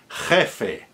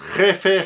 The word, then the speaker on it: jefe: So that's a j as in Bach, a hard j, which is spelled in IPA as an X, written as an X. So if you're doing Castilian Spanish, you want to do those really hard, guttural.